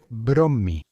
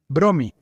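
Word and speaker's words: Brommy: A partir de entonces escribió su nombre tal como lo pronunciaban los estadounidenses, Bromy.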